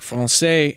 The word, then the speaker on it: français: So if you know anything about French, you know that words like français end in an S in French orthography. And that seems weird, right? Because there's no S when you're pronouncing it.